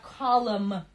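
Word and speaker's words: column: Колом. Н не произносится.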